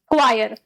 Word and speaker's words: choir: इसको चौर नहीं बोलना, ये चौर नहीं होता, क्या होता है? ये क्वायर। ठीक है, स्पेलिंग इसकी CHOIR होती है, लेकिन इसको बोला क्या जाता है? क्वायर। तुम CH देखकर इसको च्वायर या फिर च्वार ऐसा कुछ नहीं बोलोगे।